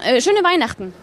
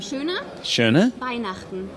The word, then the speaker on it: Schöne Weihnachten: Schöne Weihnachten. Again? Schöne? Weihnachten.